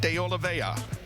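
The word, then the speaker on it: Oliveira: six tumas and JP deola and that is the way you pronounce it but I know there's an r in there but we asked and we got the information from the horse's mouth in the seventh row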